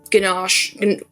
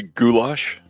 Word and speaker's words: goulash: I always say it wrong. And like a salad and bread. I know I didn't say it right. Probably. Um are we trying to say goulash? Goulash. Oh my goodness. See I knew it was wrong.